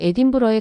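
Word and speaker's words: Edinburgh: 대부분 에딘버러, 일부는 에딘버그라고도 발음. 스코틀랜드 현지에서는 에딘브러에 가깝게 발음.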